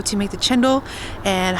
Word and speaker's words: cendol: I do want to note that a lot of you guys have told me chendol is the right way to pronounce it instead of sendol.